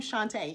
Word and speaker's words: Shantae: A lot of people are like, oh, that's how you pronounce your name, Shantae. Yes, Sean and then Tay with a long A at the end.